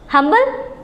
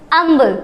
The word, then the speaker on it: humble: हम्बल नहीं, इसे हम पढ़ते हैं अम्बल, क्योंकि एच क्या है? साइलेंट है।